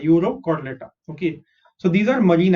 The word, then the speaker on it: Urochordata: URO is Euro, and next is Chordata, Urochordata.